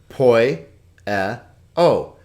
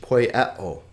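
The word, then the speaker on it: ποιέω: It's 1 consonant and 3 vowel sounds, 3 syllables. This is typical of Greek. I told you that it's a very vowel-rich language. Poieo, poieo.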